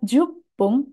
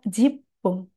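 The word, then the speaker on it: 十分: Untuk gabungan kanji ini bisa dibaca jupung atau bisa juga dibaca jipung.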